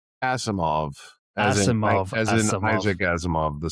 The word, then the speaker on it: Asimov: Pronounce it for me again. Asimov as in Isaac Azimov, the sci-fi writer.